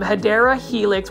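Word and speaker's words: Hedera helix: and that is the hedra Helix now these um hadera Helix which is the correct way to say it or English ivy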